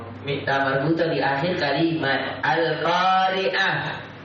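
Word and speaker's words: القارعة: Mita marbuta di akhir kalimat al-qari'ah. Antum tak baca al-qari'atu kecuali kalau antum baca sabuk baca. Dia tertulis al-qari'atu, tu tertulis tapi dibaca ha. Al-qari'ah, mal-qari'ah. Tertulisnya tu, terbacanya ha.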